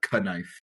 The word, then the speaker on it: K'nife: A uh interesting apostrophe thrown in there. had to make it there so you could uh perfectly pronunciate the knife.